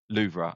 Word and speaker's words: Louvre: It sounds a bit Louvre.